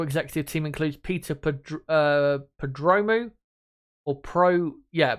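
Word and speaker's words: Prodromou: the F1 technical executive team includes Peter uh padromu or Pro yeah prodromu just trying to make sure I get that pronunciation correct who moves into the role technical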